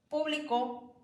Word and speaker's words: público: Por ejemplo, en la palabra público y publicó, al solamente ponerle el acento en diferente vocal, cambia su significado.